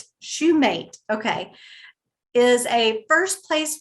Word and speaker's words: Shumate: Am I pronouncing his name correct? Shumate, okay, is a first place winner of the